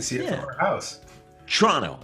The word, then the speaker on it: Toronto: Toronto. It's like the local way, like you got to say Toronto. You don't pronounce the second T, which is the...